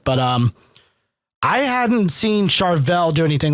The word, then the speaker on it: Charvel: looking guitar from a company called charvel not chevelle nope not chevelle charvel um it is a